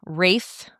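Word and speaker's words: Ralph: I thought you just I thought people, like, you're just blending the two together, like Ray Fiennes.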